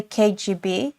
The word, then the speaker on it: KGB: to me so that maybe I should say KGB because this is how it's pronounced in English and not kab and that me saying